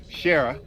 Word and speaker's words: Shira: favorite people with me, Shira. Shira. Shara. She pronounces the I differently than I do, but she's Canadian, and I'm not.